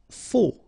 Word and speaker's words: faux: Faux. Okay, final X not pronounced, then you get this AU together. O, faux. Jeune.